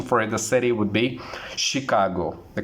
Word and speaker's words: Chicago: Let me mispronounce this. Chicago. Chicago is incorrect pronunciation. Again, the correct pronunciation for the city would be Chicago.